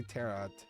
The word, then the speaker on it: tarot: Yeah, I like to say Terat. I know the tea is silent. It's tapped cards.